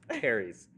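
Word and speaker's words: P. Terry's: just pronounced Terry's.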